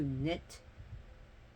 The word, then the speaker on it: knit: Her name, Neith, seems to derive from like to weave, to knit. So, knit, Knit, rhymes with Nit, knit.